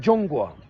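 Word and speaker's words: 中国: ça se dit en chinois ça se dit jonga ça s'écrit Z h o N G g uo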